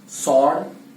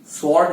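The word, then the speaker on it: sword: सॉर्ड, स्वॉर्ड नहीं, उसमें W है लेकिन उसका उच्चारण नहीं करना है।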